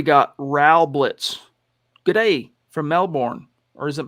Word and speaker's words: Melbourne: raul blitz g'day from melbourne or is it melbourne how do you say it down there is it melbourne americans say melbourne but i think they say melbourne either way just wondering